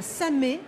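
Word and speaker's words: Samer: Moi, j'ai le souvenir de fraises à Samé. Ça s'écrit S-A-M-E-R, à côté de Boulogne.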